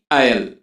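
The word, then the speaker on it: aisle: जाने के लिए उसे आयल कहते हैं यहां पर इस वर्ग के अंदर इस अकाउंट साइलेंट है इसको आयल पड़ेगी तो उस रास्ते पर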